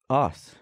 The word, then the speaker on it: arse: Ass.